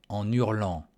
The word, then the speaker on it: en hurlant: Elle sort de la caravane en hurlant. Elle sort de la caravane en hurlant. En hurlant. Un H не произносится, но нужно тоже соединить en U. Буква N и буква U.